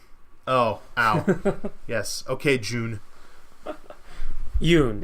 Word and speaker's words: Joonas: Yes, I believe his name is a Y sounding for the J.